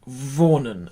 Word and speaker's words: wohnen: So give wohnen a big V as well.